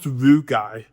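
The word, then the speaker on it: rugae: Yes, it's pronounced rugai that unfurl to allow the stomach to expand by up to 40 times its relaxed size.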